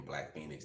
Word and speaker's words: Black Feniks: For those who don't know, you can look on Pandora, Spotify, and put in Black Feniks. That's BLACKFENIKS. So it ain't spelled like Phoenix. It's spelled actually how you pronounce Phoenix.